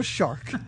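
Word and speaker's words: Jeannot Szwarc: say spell it again s z v a r c sharp shark shark yep je no shark and this is a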